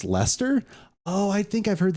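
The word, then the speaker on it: Leicester: City uh semen about they have a pronounced Lester oh I think I've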